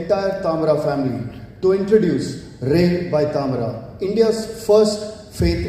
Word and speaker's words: Ra'e: It's my privilege today, on behalf of the entire Tamara family, to introduce Ray by Tamara, India's first faith intelligent hospitality brand. It's pronounced as Ray, written with an accent on the E, a small typographic mark